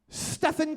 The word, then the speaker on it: Stephen: Stephen Curry. Sounds... Stephen, like it's spelled Steven, but pronounced Stephen.